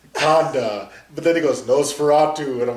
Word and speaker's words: Nosferatu: I'm like, I can believe everything in this Conda, but then he goes Nosferatu, and I'm like, is he just pronouncing it wrong? No, it's Nosferatu.